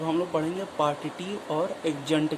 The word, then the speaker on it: adjunct: डी आ जाए, तो उस डी का प्रोनाउंसिएशन नहीं किया जाता।